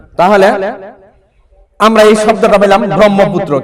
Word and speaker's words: ব্রহ্মপুত্র: ব্রহ্মপুত্র কি পুত্র ব্রহ্মপুত্র তাহলে এখানে হ কে আমরা সাইলেন্ট করে দিয়ে ম কে দৃত্ত উচ্চারণ করব কিন্তু উচ্চারণ করব ম কে দৃত্ত উচ্চারণ করব এখানে আমরা এটা ব্রহ্মপুত্র বলবো কি বলবো ব্রহ্মপুত্র ব্রহ্মপুত্র এবার পাঁচ নাম্বার বৈশিষ্ট্য